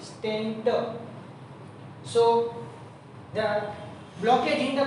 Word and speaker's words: stent: but mostly in public there is a stand is pronounced, but it is actually stent therapy, stent.